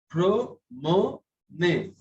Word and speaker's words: promenez: But we pronounce both of the E's. Pro-mo-ne. So this E is also pronounced.